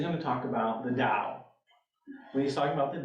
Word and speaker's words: Tao: T-A-O, it's not Tao, it's Tao.